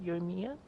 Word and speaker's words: Yoimiya: Yoimiya? There you go, Yoimiya.